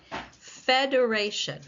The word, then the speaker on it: federation: Federation.